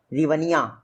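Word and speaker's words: hryvnia: रिवनिया, एच से spelling शुरू होती है, रिवनिया यहाँ की करेंसी है यूक्रेन की।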